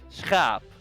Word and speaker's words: schaap: So, sheep is those 3 letters, and then double A and P, we say schaap.